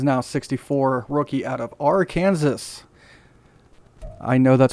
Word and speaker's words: Arkansas: He is now 64, rookie out of Arkansas. I know that's pronounced Arkansas.